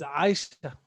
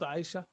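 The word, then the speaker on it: عائشة: So in the pronunciation, we say Ali, not Ali. It is Abdi, not Abdi. It is Omar, not Omar. It is Aisha, not Aisha. It is Alia, not Alia. So this letter is A.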